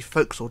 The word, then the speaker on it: forecastle: to the tip of the bow and the fo'c'sle deck remember the folks thought is pronounced folks although it is spelt forecastle so if you